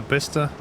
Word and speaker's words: Bicester: like 59 months yeah besta is written as Bicester to be fair there's